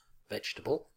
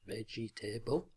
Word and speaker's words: vegetable: to teach students because there have been more fewer syllables than the learners expect as there was in vegetable not veggie table it may help to